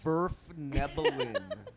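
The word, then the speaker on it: svirfneblin: Can you pronounce my race properly, please? Nerf Nephilim. Snurf- Sverfnebelin.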